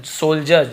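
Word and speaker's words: soldiers: हिस यानी उसके, सोल्जर्स, सोल्जर्स यहाँ डी साइलेंट होता है, सोल्जर्स ज टाइप से उच्चारण होता है, सोल्जर्स यानी सिपाहियों को,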